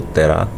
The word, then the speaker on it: Terá: Abraão anaor e arã Olha esse nome Tera em algumas traduções tem um acento no ar e é alguns pronunciam terá mas tanto faz aqui Tera ou terá Tá certo viveu Tera